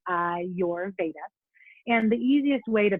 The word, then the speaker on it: Ayurveda: it for you is i your that's kind of how you say it i your veda and the easiest way